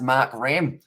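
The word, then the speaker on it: Markram: and please spit uh split makram uh pronounced mark ram irish i you are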